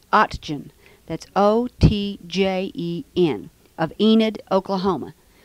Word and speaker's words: Otjen: I'm in Enid, Oklahoma, and we're interviewing Mr. W.J. Otjen. Is that correctly pronounced? O-T-J-E-N.